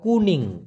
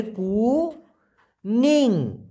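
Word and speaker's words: kuning: colour সেটাকে বলা হয় কুনিং কি বলা হয় ভাইয়া কুনিং উচ্চারণ করেন তো প্লিজ উচ্চারণটা হবে কু নিং কুনিং এই কুনিং মানে হলো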